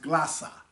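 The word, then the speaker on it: γλῶσσα: the Strong's Concordance it's the Greek word 1100 pronounced glossa and it says of an uncertain affinity the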